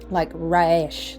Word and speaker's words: Resh: So anyway, the Hebrew letter that's associated with the sun is called Resh, or some people would pronounce it more like Raish, like Raish or Raish, I think.